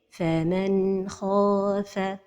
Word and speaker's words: فمن خاف: Un exemple entre deux mots. فمن خاف. La première erreur, c'est القلقلة de النون الساكنة. فمن خاف. La deuxième erreur, c'est de prolonger son temps. فمن خاف. La dernière erreur, c'est la pause. فمن خاف. Donc la prononciation correcte est فمن خاف.